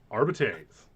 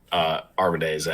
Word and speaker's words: Arbites: Latin did not do the English thing where we have a hard vowel sound and a soft vowel sound if there's an E after a consonant. No. You pronounce them all. So it's Arbites. Just like it's a Stardays, not A starts.